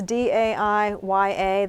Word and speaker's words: Daiya: Daiya cheese, it's spelled. How is that, Daiya? It's Is it good. It's Daiya.